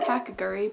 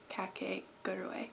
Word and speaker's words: Kakegurui: it right kake gerdaway i was saying kakaguri but i looked it up and it said cat cake got away so this anime is